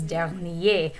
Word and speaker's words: dernier: that describes last weekend is dernier with a silent r at the end la semen is feminine so we're going to use the feminine form der nier and that r will be pronounced lenny is good to